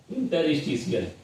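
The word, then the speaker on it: interstitial: Last word है इंटरिस्टियल यहां पे टी के बाद क्या आ रहा है? आई ए आ रहा है। तो यहां पे हम क्या करेंगे? इसे सा के रूप में उच्चारण करेंगे। सा के रूप में प्रोनंसिएट करेंगे।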